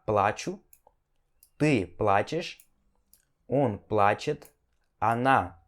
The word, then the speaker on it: плачу: No primeiro caso, я плачу, sílaba tônica no A, я плачу significa eu choro. No segundo caso, я плачу, sílaba tônica no U, significa eu vou pagar, tá?